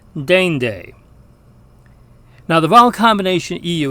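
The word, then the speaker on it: deinde: Now, the Latin diphthong EI sounds like the same vowel combination in the English word reign. And in fact, we see the same pronunciation in the English word reign, R-E-I-G-N, as in a king's reign. The Latin word that means next is pronounced dende.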